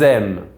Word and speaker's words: aiment: When you see the letters ENT at the end of a verb, only a verb, it is silent.